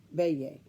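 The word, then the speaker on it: Beje: bay a B eje is a Dutch word and it's pronounced bay a and that's the name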